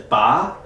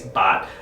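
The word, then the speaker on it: 八: culture because the word eight in chinese is ba uh in mandarin but in cantonese bot um but it's really rhymes with uh like fat choi so which stands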